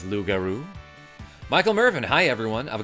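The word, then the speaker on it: loup-garou: I say yeouch when someone throws a shuriken at my face, says Lugaroo. Um, that is kind of how you pronounce uh how you say the word werewolf in French.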